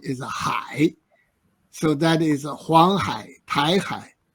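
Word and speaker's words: 海: Pronunciation is Hai.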